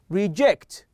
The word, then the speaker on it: reject: But if I emphasize or stress on the last one, okay, like present, okay, reject. So here I'm emphasizing or focusing on the last syllable, which is give us the verb, okay, as or function as a verb.